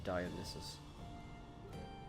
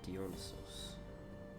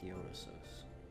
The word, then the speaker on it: Dionysos: I've always been pronouncing his name Dionysus. Dionysos. Gotcha, I'll keep that in mind for when I genuinely want to pronounce his name. Dionysos. Gotcha. Saying his name wrong this whole time.